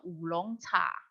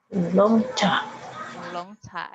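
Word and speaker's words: 乌龙茶: Itu namanya ulong cha. Ulong cha. Ini tadi kita sudah belajar ya. Apa ini tadi?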